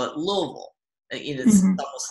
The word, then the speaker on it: Louisville: it in different ways there's Louisville there's Louisville a lot of people know that you're not supposed to pronounce that Louisville like you do st. Louis which doesn't make a